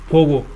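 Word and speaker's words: forgo: Vowel मिल गया, उसके बाद में अगर आर हो तो वहां पर ये जो आर है ये क्या लेता है? साइलेंट, ठीक है। इसके लिए मैं दो चार वर्ड करा रहा हूं, ये ऊपर वाला मिटाएंगे तभी होगा, ठीक है। ये क्या होता है? इसका यहाँ पर आर है वो साइलेंट रहेगा, तो इसका अर्थ क्या होगा? फोगो। इसका अर्थ क्या होगा? फोगो, फोगो।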